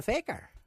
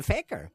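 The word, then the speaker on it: fakir: I mean a faker you spell it f a k i r I suppose you'd call it Faker but we don't say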